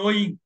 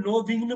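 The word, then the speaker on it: knowing: ஓட நோன் அப்புறம் பாருங்க நோயிங் நோயிங் நோவிங்னு படிச்சிடக்கூடாது டபுள்யூ கட் பண்ணனும் நோயிங்னு தான் படிக்கணும் நோஸ் பாருங்க நோஸ் நோஸ்னு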